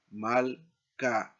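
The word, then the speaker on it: מַלְכָּה: Aquí leemos malc, ¿no? Aquí tenemos la separación de la sílaba, malca. Este caso, el cheva es silencioso.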